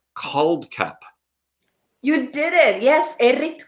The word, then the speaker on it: Kuldkepp: Kuldkepp.